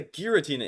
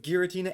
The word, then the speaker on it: Giratina: Okay, so it sounds like a horror G sound.